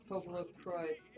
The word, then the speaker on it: PopoloCrois: Yeah, it's supposed to be phonetic PopoloCrois, even though it's based on what popolo from Italian, which is people, and what cose or cois or something from French.